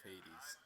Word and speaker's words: Hades: yeah i finally uh completed a run of hades yep that's how you say it and i